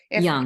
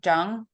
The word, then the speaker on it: Jung: many of you don't, did I say Jung? Yeah, it's young. I always do that. I know it's Young and I say Jung all the It's time. spelled with a J.